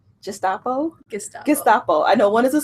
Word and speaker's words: Gestapo: the always say this wrong just Oppo just Gestapo I know what is a soup and one